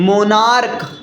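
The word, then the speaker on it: monarch: ना स्टमकस इसी तरह मोनार्क मोनार्क एम ओ एन ए आर सी एच मोनार्क का प्लूरल क्या हो मोनार्कस मोनार्कस क्या ऐड होगा एस क्योंकि सी एज का साउंड का से निकल रहा है पहला रूल क्रिस्टल क्लियर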